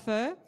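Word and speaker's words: phở: there all the time and I love eating fur do you know about fur p-h-o we're my Vietnamese friends how do you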